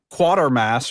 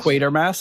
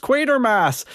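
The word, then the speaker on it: Quatermass: look at it and I think of the word quarter with no R and I think quarter.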